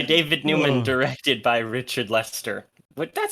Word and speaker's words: Lester: I I watched a few where they were saying Lyster. Um, but I'm I'm going to go with Lester because it's spelled Lester and I don't have enough respect for the man to go for the pronunciations. Phonetics for the win.